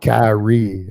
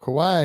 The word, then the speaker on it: Kawhi: Kyrie. No. That's not Kyrie. That's Mr. Leonard yeah. expected to miss Kawhi. Kawhi Kawhi.